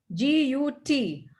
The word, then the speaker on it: gut: The fifth vowel, G-U-T. How do we pronounce that? Got. Gut. Gut. Yes, it's not jut, it's gut.